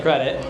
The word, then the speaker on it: Kredete: So, the company it it looks like it should be pronounced Credi and I've seen on some of your videos it's definitely Credit.